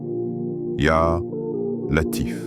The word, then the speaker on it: Latif: Prononce ce nom doucement, comme un souffle. Ya Latif.